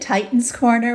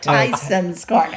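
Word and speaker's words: Tysons Corner: I thought you said Titans Corner, which would have been No, it's like Tyson's Corner. Tyson's Corner. That was just my my terrible pronunciation and maybe accent coming through.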